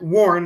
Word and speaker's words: Warn: g it's okay it's it's definitely not like warren g uh so it is however like warn like uh i'm going to warn you about something w-a-r-n it is not warren